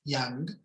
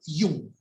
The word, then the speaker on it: Jung: él es carl gustav jung se pronuncia con latina porque viene del alemán era suizo si fuera inglés o norteamericano diríamos yang pero no es carl gustav jung carlitos gustavo para los